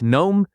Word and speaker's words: gnome: The G at the beginning disappears entirely. It sounds like gnome.